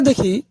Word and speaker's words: দুঃখ: উচ্চারিত হয় যদি আমরা দেখি দুঃখ এই দুঃখ বানানে কিন্তু বিসর্গের কোন উচ্চারণ হচ্ছে না আবার যখন আমরা ব